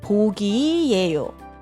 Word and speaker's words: 보기: 이렇게 aqui 이렇게 é assim que se pronuncia. 이렇게 남자친구요? 3년 사귄 남자친구가 있어요. 취미는 K-pop 듣기, aqui 나 듣기, K-드라마 보기예요.